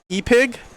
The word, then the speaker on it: EPIG: One of them, one or both of them, and it's going to be at EPIG. I think I'm saying it right. It's not Epic. It's at EPIG Brewing.